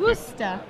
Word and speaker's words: Worcester: Worcester. I'm practicing. There we go. I've been trying. I don't like mispronouncing things.